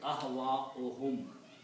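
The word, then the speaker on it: أهواءهم: When you combine, you will read ahwa'uhum. When you combine these two, the pronunciation will be ahwa'uhum.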